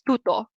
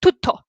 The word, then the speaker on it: tutto: So you wouldn't pronounce it as tutto, which is like a very soft T. You would pronounce it tutto. You just, of course, with like emphasis, but tutto, tutto. You just slap the double T a bit.